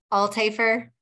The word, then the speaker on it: Althafer: I say my name it's all tafer so like the H is silent all taper it's German I guess I'll taste